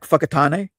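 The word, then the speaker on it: Whakatāne: That f F that wh is f like f or fe or fe.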